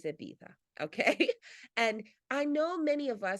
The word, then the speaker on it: Ibiza: You do not pronounce the Z. It is Ibiza, okay?